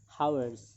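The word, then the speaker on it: hours: হয় তেতিয়াও কি বহিব এন বহিব ফৰ এক্সাম্পল হাৱাৰ্স ইয়াত চোৱা ইয়াৰ প্ৰথম লেটাৰ ভাৱেল হয়নে নহয়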